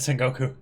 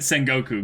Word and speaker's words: Sengoku: wrong you meant that no no I meant Sengoku Oh oh man you meant Sengoku right because because I feel like that's the